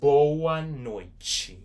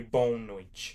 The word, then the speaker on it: boa noite: Boa noite. Boa noite. And again, we still pronounce and say the word boa. We do not say bon noite. That would not make sense, and that would be